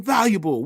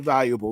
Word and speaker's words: valuable: Nobody pronounces it valuable. We all say valuable. Your valuables. Most valuable player. Ain't nobody pronouncing the A, so what the fuck is it doing there?